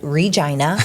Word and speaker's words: Regina: Saskatchewan Canada and yes I said it right Regina okay the city that rhymes with fun yeah that's what they the rock